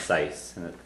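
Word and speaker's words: saghas: That's pronounced sais.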